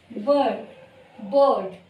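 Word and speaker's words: bird: जो आपका र साइलेंट होता है, जिसे हमको कहना है बर्ड।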